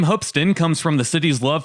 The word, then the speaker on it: Hoopeston: as hoopston the name hupston comes from the city's love for basketball it's weird it's spelled as hoop but it's pronounced as hup but yeah they take